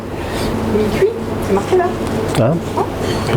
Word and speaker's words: Mikuy: c'est facile à retenir, ça s'écrit M-I-K-U-Y, mi-cuit, c'est marqué là.